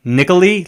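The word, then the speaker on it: Nikalie: It's N I K A L I E like Nicoli, like Natalie with a K.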